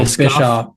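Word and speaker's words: Bischoff: do you say his last name boffs oh bishof Bishoff Eric bishof WWE theme we're back and we're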